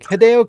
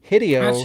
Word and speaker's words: Hideo: Well, because the thing is, it's every syllable of the Japanese language is always said, no matter what letters they combine it with. Te, de, o, a, I, u, e, o. It's just, it doesn't change even if you combine it with other characters.